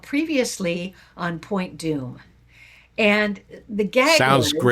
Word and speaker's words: Dume: Dume is spelled D U M E, which I think some people are on like the beach.